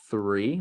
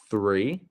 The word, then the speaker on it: three: Gran three saw saw next one is three make sure to get that sound three great season season instance